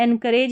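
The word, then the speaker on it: encourage: फिर यहां पर देखें इनकरेज के बाद में एनकरेज या इनकरेज दोनों तरीके से आप प्रोनाउंस कर सकते हैं।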